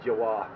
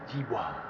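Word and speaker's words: Giwa: I was going to say Jawa. Jawa or Jiwa. So I put it on the you know, you can do it. So how do you say this name? And Google will tell you. And that's exactly how the guy said it. Jiwa. Just like it.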